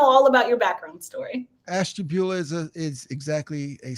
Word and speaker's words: Ashtabula: i say it right is it ash bula ohio did i do okay on it close very close ash jabula ashtabula ashtabula yeah well tell me about